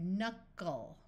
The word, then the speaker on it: knuckle: at this word here when you have a longer word that ends in l e with a consonant before it we divide it three letters from the end into syllables this letter U is in the middle of a syllable so we will try the short sound so we get knuckle